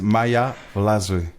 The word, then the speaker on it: Maja Wlazly: Listen, it is Maja Wlazly.